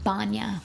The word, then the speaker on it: banya: the website of the banya that I went to. Oh, okay. Which is the Russian spa. And so, Sorry, how do you uh banya? No, banya. Oh, banya. a n y a.